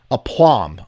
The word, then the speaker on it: aplomb: sorry one more time a plum a plum oh it's it's okay so the b is silent aplomb is self-confidence or